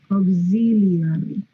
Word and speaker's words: auxiliary: Van a pronunciar así, ¿eh? Auxiliary. No es aux. O sea, ¿ustedes cómo pronuncian esto? ¿Because? No dicen because, ¿verdad? Dicen because. Y para los que estén estudiando francés, pues deben saber que siempre que hay AU, suena O.